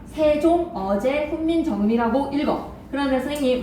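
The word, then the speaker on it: 세종어제훈민정음: 생종엉 훈민정음이라고 읽지 않아. 세종 어제 훈민정음이라고 읽어.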